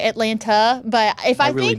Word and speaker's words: Atlanta: Atlanta. You pronounced the second T at the end. I only did that because you asked and I wanted to be proper, but I'd call it Atlanta.